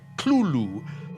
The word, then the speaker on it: Cthulhu: You're supposed to put your tongue at the roof of your mouth and cough it out like Cthulhu.